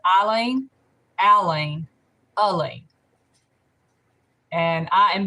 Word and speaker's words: Eileen: and i have explained please call me eileen when you pronounce it if you're especially if you're going to talk to text if you say eileen it will type in e-i-l-e-e-n and i will answer